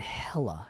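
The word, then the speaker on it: Hela: and then Sable Sable and hella hella like like that's hella good uh in my notes it is spelled h-e-l-a don't have any notes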